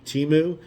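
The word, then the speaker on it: Temu: ever heard timu so it's like t-e-m-u-u pronounced pronounce it timu have you ever heard Amazon ever even mention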